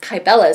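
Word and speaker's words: Cybele: secret but I found out later was actually pronounced kybella secret so in Cabela's secret we pick up years down the road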